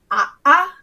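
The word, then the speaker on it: ʻaʻā: called a glottal stop, which is if you have 2 vowels next to each other and they're meant to be pronounced separately. For example, the pokey kind of lava is called a'a, and that is written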